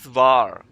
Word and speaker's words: war: right um v a German word of has been uh the past tense of uh is basically that is var so w a r